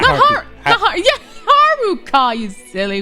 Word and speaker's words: Haruka: I think you meant Haruka yeah I meant haruku not yeah Haruka you silly W Haruka yeah there you go